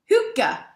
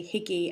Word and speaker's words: hygge: His subject is what Hygge, oh shit, I practiced pronouncing it right. You see, how do I say it? Hygge.